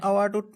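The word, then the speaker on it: hour: ম্যান ঠিক তেনেকৈ এন আৱাৰটোত আমি এটো এইচ আৰম্ভ কৰিছো যেটো এইচ টো সাইলেন্ট ইয়াত সাইলেন্ট সাউন্ড ইয়াক আমি উচ্চাৰণ নকৰো তো গতিকে লৈ তাত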